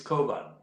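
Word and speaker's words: Cockburn: not familiar with the irish pronunciation they would pronounce it as bar but actually it's kovan patrick koban is one of the sons of the old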